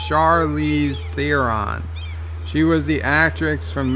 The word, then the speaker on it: Charlize Theron: the trigger says Joe her name is pronounced Charlize Theron she was the actress